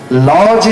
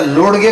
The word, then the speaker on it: lodge: हा लॉ जे शब्द आहे ना, LODGE असं स्पेलिंग आहे ना, तर त्याचा लोडगे का म्हणत नाही, त्याचा डी लुप्त आहे असं म्हणतात काय लॉज.